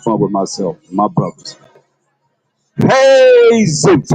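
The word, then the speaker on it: Jesús: Ain't that how you say Jesus in Spanish? Huh? Nobody can speak Spanish now, huh? Huh? Nobody can speak Spanish. Okay, that's how you say it in Spanish.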